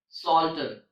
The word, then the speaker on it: psalter: In English, all the words that starts with PS have a silent P, like psalm, psalter, psychology, psychic, psychotic, and pseudo.